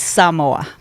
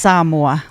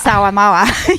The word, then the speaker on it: Samoa: It's Samoa. It's pronounced Samoa. I was today old. I learnt that then. Yeah, because we Aussies say Samoa. Yeah, because I was kicking around with an actual Samoan human being.